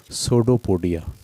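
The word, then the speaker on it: pseudopodia: ठीक है, और जिस चीज़ से ये हरकत करता है इसको कहते हैं सूडोपोडिया। सूडोपोडिया की स्पेलिंग पी से शुरू होती है, PSEUDO, और पोडिया।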